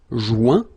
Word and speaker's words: joint: Final T not pronounced. Joint. So when you get this O-I-N combination of letters, you get the sound ouin.